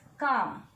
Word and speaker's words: calm: Yes, calm. In calm, this la sound is silent, isn't it?